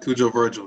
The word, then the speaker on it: Cudjoe-Virgil: Cudjoe-Virgil, is that how you pronounce it? Yep, Cudjoe-Virgil, yes.